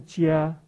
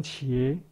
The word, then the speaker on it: 伽: " 才对，可是因为是古字，古音是 " 加现在音我们念成茄，啊，不一样。